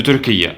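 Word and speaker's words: Türkiye: Next, we have Turkey, who just changed their name recently to Turkiye, because that's how the word is pronounced in the Turkish language.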